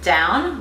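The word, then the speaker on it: Dão: from a region called Dow. Actually, when I was in Dow in Portugal, they actually pronounce it down, like you're going down, but let's just say it's Dow because it's D-A-O.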